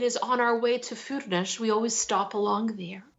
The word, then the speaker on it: Furnas: But Yeah, Furnas.